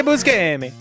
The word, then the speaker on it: Buscemi: Like Steve but I don't Buscemi. Know. He always says it way different. Yeah, Busque Amy. Hey, Busque Amy. Like, that's how he says it.